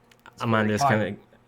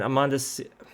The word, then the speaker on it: Amanda: And you walk for a little bit, and Amanda. God, I keep saying Amanda. This is a Swedish pronunciation. Amanda looks very troubled.